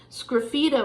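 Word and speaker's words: sgraffito: you a real life tile example right here scraffito is spelled this way SG r a f fi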